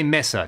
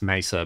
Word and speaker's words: Mesa: amps I'm gonna say Messer trigger warning I know it's meant to be pronounced Mesa but I've been saying Messer my whole life you know that's just what we say down here in Australia we ruin everything for